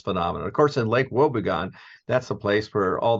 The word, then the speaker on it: Wobegon: Wobegon, how do you pronounce it? Wobegon.